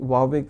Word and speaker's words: Huawei: वावे को आप अगर आप, मैंने प्रोनाउंसिएशन वावे से मेरा मतलब है HUAWEI, आपने सुना होगा वावे